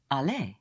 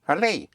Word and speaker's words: aller: Pronounced A. Like to go would be aller. aller. Again, for the consonants, the R is sounded at the end except with ER.